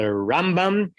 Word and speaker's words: Rambam: is that it's the Rambam and the Ramban. That the Ramban gets the stress on the second syllable, and the Rambam gets the stress on the first syllable, so that you're not making a confusion.